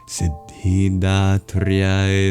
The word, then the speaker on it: Siddhidhātriyai: Siddhidatryai namaha.